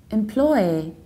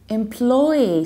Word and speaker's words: employee: employee or employee however the most frequent pronunciation of this word is employee employee so you stress the